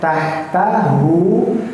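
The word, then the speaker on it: تحته: Hya jangan sampai lupa bahwa hu di sana itu hu yang ee salah dommah yang terbalik. Maka tahtahu itu dibaca panjang sebanyak dua harakat.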